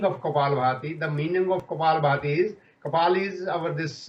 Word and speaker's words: Kapalabhati: The Kapabharti, is it called? Kapalabhati. It's not Bharti. Kapalabhati.